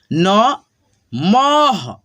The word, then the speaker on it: नमः: ठीक है, जैसे यहाँ पे देखो म पे लगा है तो म के बाद में हम लोग ह का उच्चारण करेंगे। जैसे यहाँ पे देखो न, मह, नमः।